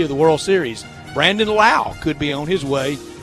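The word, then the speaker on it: Lowe: 2-0 instead they're 1-1 brandon lau spelled l-o-w-e but pronounced like charlie law though the old hitting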